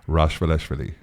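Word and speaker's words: Rachvelishvili: Is that actually how you pronounce her last name? That's right. Yeah, Anita Rashvaleshvili.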